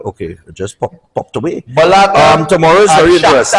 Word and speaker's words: Bologna: Bologna Tomorrow is and very interesting.